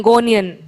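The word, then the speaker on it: gonion: just want me to spell so I'll just spell it is g o n i o n gonan yes g o n i o n now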